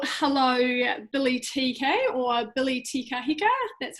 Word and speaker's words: Te Kahika: Well, hello, Billy TK or Billy Te Kahika.